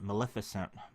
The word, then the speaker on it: Maleficent: victory party and of course Melissa fent want Maleficent Melissa Fenn I always say it wrong I